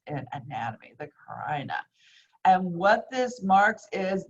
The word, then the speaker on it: carina: And this piece of cartilage is called the carina, okay? Yes, I know if it was a girl's name, you'd say it differently, but this is how it's pronounced in anatomy, the carina.